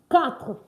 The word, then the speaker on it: quatre: And then 4 is quatre. Quatre. Quatre. Not quatre. Yes. Don't try to pronounce the R-E at the end here. So it's pronounced quatre.